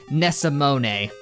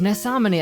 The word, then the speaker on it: Nesamani: Last time I said frickin' Nesamone. That ain't how you say it. As Nesamani actually pointed out to